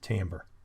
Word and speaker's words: timbre: on sound and timbre yep that's how it's pronounced timbre musical instruments have characteristic sounds due to the